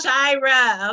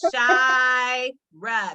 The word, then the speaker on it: Shira: Her name is Shira, okay? Shira. There's an I in that.